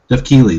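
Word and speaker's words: Keighley: uh produced by Jeff nightly Neely night I pronounce his name I always I don't know I I wasn't it Jeff key je key there it is key I I don't know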